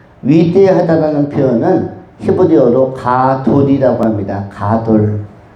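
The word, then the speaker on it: גָּדוֹל: 가돌. 가돌. 우리나라에 이것과 비슷한 어 발음이 있다면 단어가 있다면 뭐 가두 가두리가 있을까요? 가두리 양식장. 그런데이 가도리라는 것은 위대하다라는 뜻입니다.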